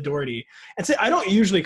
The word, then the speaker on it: Daugherty: When you said it that way, D-A-R-D-E-E, like just say it like that really fast. Yes. Daugherty, like there you go.